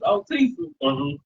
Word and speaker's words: Otisa: I understand cuz a lot of people can't say my name. My name is Otisa.